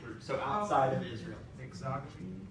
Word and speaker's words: exogamy: Exogamy? Yeah, exogamy. That's how that's pronounced.